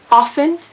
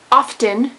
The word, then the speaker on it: often: Neanderthal salmon not salmon often not often because the t is silent yay English utmost not